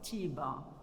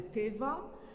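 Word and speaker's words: תיבה: This is, we call it in Morocco, tiba, like Moroccan pronunciation by Jews. Tiba, this is the teva. Moroccan Jews, they call it teva, but American or Ashkenazi, they use another word, bima.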